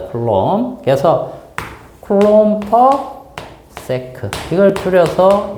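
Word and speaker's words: Coulomb: 쿨롱. 쿨롱/퍼세컨드 알겠죠? 쿨롬이라고 읽으면 돼요. 쿨롬 단위는 영어식이고 이름은 그 나라 이름으로 하기 때문에 사람 이름이 쿨롱이고 미국식으로 그걸 발음하면 쿨롬입니다. 쿨롬 그래서 클롬퍼 세크 이걸 줄여서 얘기해 놓은 거야.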